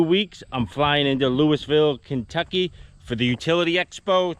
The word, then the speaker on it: Louisville: Some people call it Lowville, Kentucky, but it's pronounced Louisville from where I'm from.